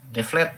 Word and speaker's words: Devlet: Devlet ya. W dibacanya W itu. W Devlet Daulat dari bahasa Arab gitu.